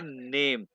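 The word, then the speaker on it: Name: सबसे पहले हम बताएंगे नेम नेम को हम क्या पेंगे प्रोनाउंस करेंगे नामे नामे ठीक है जर्मन व लैंग्वेज में हर अल्फाबेट को प्रोनाउंस करते हैं अल्फाबेट्स में आपका अभी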